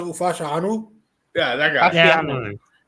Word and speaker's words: Fashanu: Oh, Fasciano? Fashanu.